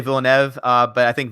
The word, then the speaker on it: Villeneuve: And I always call him Denis Villeneuve. I don't know if that's the proper way to announce it. I think it is Villeneuve. I always say Villeneuve, but I think Villeneuve is actually the correct way to pronounce it.